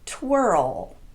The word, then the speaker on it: twirl: Some other examples would be pearl, whirl, hurl, swirl, and twirl. Every one of these is technically a single syllable word, but they're pronounced as if they have two syllables.